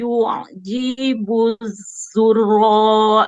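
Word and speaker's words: الزراع: ala suqihi yu'zibu zurra Oke, pas masuk ke ainnya ditekan. Zurra'.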